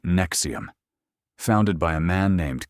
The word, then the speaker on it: NXIVM: This is the story of NXIVM, pronounced Nexium, founded by a man named Keith Raniera in the late 1990s.